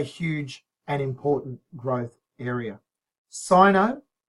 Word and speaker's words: Sino: Sino, sometimes Americans say Sino, but Sino is more common.